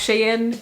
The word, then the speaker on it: Sheehan: pronounced like that like it looks like sheehan but it's pronounced sheen and it all made